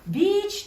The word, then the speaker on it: beech: 얘들아, beech tree야. beech tree 발음 조심해야 돼. 왜냐면 beech가 짧게 말하면 욕이 되거든. 그지?